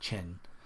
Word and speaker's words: Qin: So Qin. So this is technically, I guess, pronounced Qin, the Warring States.